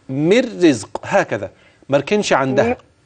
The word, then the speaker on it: من رزق: مر رزق، هكذا مركنش عندها. مر رزق زي ما قلتي كده، قولي زي مر رزق. مر رزق، أيوة هي كده، ده النطق السليم بتاعها.